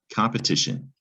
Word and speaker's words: competition: To pronounce or decode competition, we're going to start with the syllable com, pe, ti, shun. It's a 4-syllable word, competition.